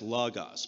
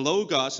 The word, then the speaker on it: logos: actually pronounce it as lagos because the two O's are the same in the original Greek so it should be lagos but we pronounce that its logos for some reason well the logos is a very huge